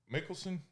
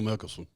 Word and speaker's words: Mickelson: And when we get on, in first class, there's Phil Nicholson, how you say his name? Phil Mickelson.